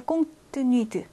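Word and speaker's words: compte tenu de: 꽁뜨뜨뉘트 빨리 발음하면 꽁뜨뜨뉘트니까 꽁뜨뉘드 그죠? 하나로 그냥 뭉쳐지겠죠? 뜨가 꽁뜨뉘드.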